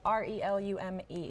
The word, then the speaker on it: Relume: It's spelled R-E-L-U-M-E. Relume. Yes, ma'am. Like re-illuminate.